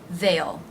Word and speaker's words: they'll: they will veil veil the th voiced sound hasn't say diphthong and the dark L sound oh oh they'll they'll be here soon